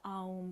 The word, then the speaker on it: Aum: Okay, so this is you continue with this motion, and you're going to chant the mantra Aum, but we're going to split it into 3 syllables. So it's A, O, So think of that as you chant it.